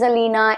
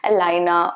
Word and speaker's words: Alina: an exact pronunciation so my name is alina and if you want to call me elayna or eliana that would also be okay it's just that it should sound correct right so you wouldn't